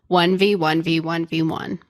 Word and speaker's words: 1v1v1v1: to play a little 1v1 V1 V1 you're not saying it correctly one you have to do a pause before the last one okay well that's my